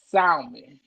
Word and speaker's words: salmon: So what about salmon? How am I supposed to say we say salmon? How am I supposed to know that L is silent?